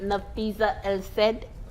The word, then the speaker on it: Nafisa El-Said: And we have the amazing and brilliant Nafisa El-Said. Did I pronounce that right?